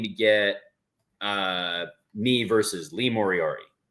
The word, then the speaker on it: Moriarty: Moriarty. Lee Moriarty. Moriarty. Nope, you're adding extra letters. He's like the Sherlock Holmes villain, Moriarty.